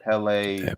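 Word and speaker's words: Kpelle: It is nice pronounced Pele. K is silent.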